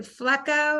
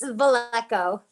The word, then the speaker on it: Valeco: And, is it Flecko? I want to say it right. It's Valeco. Valeco, thank you, Valeco.